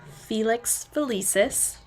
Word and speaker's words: Felix Felicis: So whoever made the best potion would get Felix Felicis, that is how you say it, as a prize.